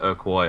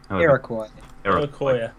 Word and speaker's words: Iroquois: Well, okay, then I blame the Urquois or whatever. Iroquois. Stop adding syllables and saying I'm wrong.